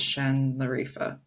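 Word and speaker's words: Şanlıurfa: Um, and it's outside of the city called Shen Larifa. That's not what it looks like, but that's how it's pronounced.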